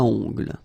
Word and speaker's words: ongle: Okay, O-N, remember, nasal, ongle.